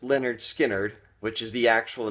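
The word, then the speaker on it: Lynyrd Skynyrd: And then 1973 we've got Leonard Skard pronounced Leonard Skard which is the actual name of the album.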